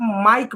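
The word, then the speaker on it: mike: जबकि इसे आप माइक पढ़ रहे हैं। मिक नहीं पढ़ रहे हैं। माइक पढ़ रहे हैं। यानी इसको इस आई को आ पढ़ रहे हैं।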